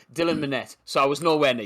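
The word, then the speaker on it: Dylan Minnette: have I think um is it Daniel mitt is that uh how you say his name sorry the lad who plays his son right uh Dylan sorry Dylan manette so I was nowhere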